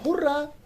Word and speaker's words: hurrah: that is spelled as h u double r h in hurrah h is silent so it is